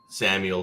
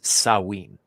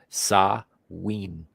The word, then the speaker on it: Samhain: Samuel phobia. No, it's actually, because it's Celtic, it's not pronounced anything like it's spelled. It's Samhain. Yeah, I know. It almost sounds like you said sell weed. No, Samhain.